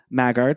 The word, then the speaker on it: Maggart: about who Fiona Apple McAfee magar is or is it maggot would you say how would you pronounce yeah yeah so let Zach tell us who's Fiona Apple who we're discussing this season well you just said her full name Walker it is Fiona Apple McAfee maggart that is with the